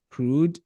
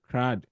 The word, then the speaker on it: CRUD: application we call something others pronounce it crude others also pronounce it Crow however you pronounce it depending on who thought you English or where you learned English it's fine with me where C is for